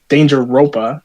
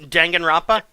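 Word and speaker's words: Danganronpa: gonna take up a danger ropa if you've ever heard that jangan Rafa oh that's how you pronounce it yeah yeah that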